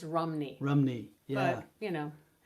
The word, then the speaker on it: Rhymney: And apparently Rhymney is actually pronounced Rumney.